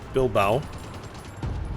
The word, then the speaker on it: Bilbao: offensive let's see if we can cut off Bilbao here and that's how you pronounce that actually looks like we need a